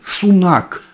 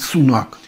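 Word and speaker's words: Sunak: индийского пацана зовут Риши сунак индийское произношение фамилии всегда Вот в такой форме всегда на последнюю букву Даже если он сам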